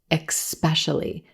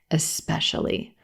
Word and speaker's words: especially: a lot of times native speakers will pronounce this word like there's an X in the first syllable and they'll say especially especially making it sound like words like exchange and exceptional but there's no X in the first syllable in this word it's just the e as in red vowel right into the S sound especially especially this word